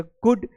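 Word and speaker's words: could: L silent हो गया कुड यू के बाद भी साइलेंट होता है और वुड यहां पर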